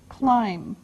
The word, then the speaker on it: climb: the first verb is climb climb now it doesn't sound like it looks now this letter B is silent climb okay we climb a